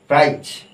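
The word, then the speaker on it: prize: এবার দেখ যেমন দেখুন পি আর আই জেড ই এটা কি আই আছে এটা কি ই আছে মাঝখানে জেড তাহলে এখানে হয়ে যাচ্ছে কি প্রাইজ প্রাইজ তারপর দেখ এস আইজে এ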